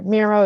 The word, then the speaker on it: Miro: that for us sure Miro is m-i-r-o Miro like I look hello sorry what was that